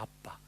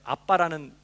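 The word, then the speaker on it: Abba: 헬라어 단어로 번역한 단어예요 그러니까 아람어의 아버지라는 단어가 아빠입니다 아빠 우리나라의 아빠라는 단어랑 발음이 비슷한데 아빠 이게 아랍어로 아버지라는 뜻이에요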